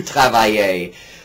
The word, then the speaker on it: travaillez: Vous travaillez. The sound is the same as the infinitive.